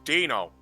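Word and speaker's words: Deino: It's Dino.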